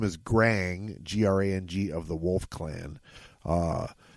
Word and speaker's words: Grang: G R A N G of the Wolf Clan. Uh, and his boss is you. How do you pronounce his name, Butch? Grang bragging and banging.